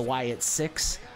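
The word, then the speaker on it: Wyatt Sicks: As Asuka makes her way to the ring, I think the sixth person, you know, because it's supposed to be the Wyatt Six, even though it's spelled S-I-C-K-S, the sixth person should be Bray Wyatt always.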